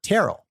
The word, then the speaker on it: Tyrrell: Jama it's typically pronounced it's typically pronounced Terell oh Warren other question